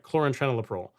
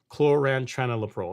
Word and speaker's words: chlorantraniliprole: Chlorantraniliprole. Chlorantraniliprole is how you pronounce it."